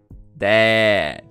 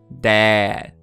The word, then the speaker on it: dad: Esse dad, a pronúncia é um pouco mais aberta. Você vai falar... Dad, dad, dad.